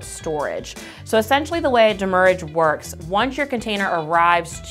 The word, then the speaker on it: demurrage: It does look like demurrage, but it's really pronounced demurrage.